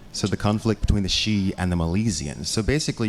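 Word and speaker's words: sidhe: by the way that that word is spelled s d he e so probably half of you are thinking Sidi that's why I read it forever it's actually shei that's the word though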